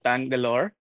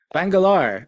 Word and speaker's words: Bangalore: Uh so, but only one correction. Uh the city that I'm from is Bangalore. Bangalore.